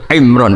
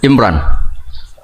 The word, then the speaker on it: Imran: Dari sana Bugis Imran, jadi orang sana nggak pakai ro. Kalau orang ro jadi pakai ra. Kalau ainnya? Ain pakai ain. Berarti apa? Imron gitu. Ya kalau sana tulisan KTP Imran. Apa bacanya orang-orang Sulawesi? Apa? Imran.